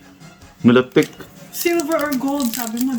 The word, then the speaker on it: Milotic: Mali na naman yung pronunciation pakita mo sa ano e. Sorry ganon tayo hindi melotic. Milotic silver or gold sabi mo ba or dapat gold?